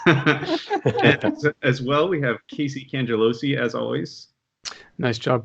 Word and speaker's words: Casey Cangelosi: And as well, we have Casey Cangelosi, as always. Nice job pronouncing my name, Ben.